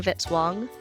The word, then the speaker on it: Vitz-Wong: Music by Kevin Vitz-Wong, rhymes with hit song.